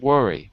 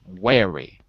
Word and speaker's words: wary: choice left worry good wary wary not worry wary worry okay because worry